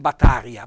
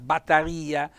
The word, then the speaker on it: batteria: john cantina con sarde batteria non battaria batteria un bel accento tonico sulla e quindi voi capite